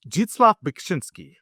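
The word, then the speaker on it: Zdzisław Beksiński: For this next one, I won't even attempt to pronounce it. I'm just kidding. It's jitslaf bshinski. Jitslaf bitchinski.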